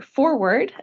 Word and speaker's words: FORWARD: So the Federal Highway Administration released an initiative called Focusing on Reducing Rural Roadway Departures, or Forward, as we're trying to get it to be pronounced.